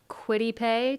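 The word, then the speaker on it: Kwity Paye: Quiddy Pay.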